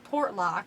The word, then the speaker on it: Portlock: Portlock. Like pop lock and drop it. Pop, Yeah. like Portlock.